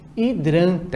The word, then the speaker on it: hidrante: realidade essa primeira figura hidrante começa também com H mas um som que nós pronunciamos é o da vogal e hidrante a próxima palavra hambúrguer